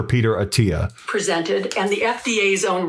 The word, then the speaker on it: Attia: Attia, that's the AI voice not knowing how to pronounce his name as Peter Attia. And if I'm wrong about that, then that's funny, but I'm pretty sure it's Dr. Peter Attia.